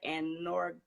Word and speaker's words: anorgasmia: What causes, and I'm going to spell this, Orgasmia? Is that anorgasmia? Orgasmia. Is that I'm saying it right? Anorgasmia.